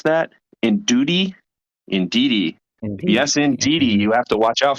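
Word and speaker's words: Indeedee: armor Rouge and the uh how do you pronounce that Indy indei yes indei you have to watch out for that indei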